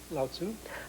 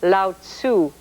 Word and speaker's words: Lao Tzu: Lao Tzu. Lao Tzu.